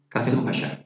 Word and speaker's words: Kasımpaşa: Did I say it right firstly? Kasımpaşa. Kasim Pasha. Kasımpaşa.